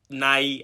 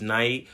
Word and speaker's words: Nai: Nai, actually. It's spelled NYI because Nai, the YouTube name, was taken, so I put NYI there, but my name is Nai.